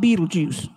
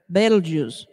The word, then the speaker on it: Betelgeuse: a lot lately and no it is not pronounced like the movie belgium's not beetlejuice okay betelgeuse um so the title is called your results